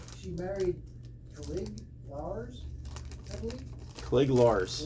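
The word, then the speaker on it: Cliegg Lars: Brian said she married Clig Lars, I believe. Clig Lars. Clig Lars.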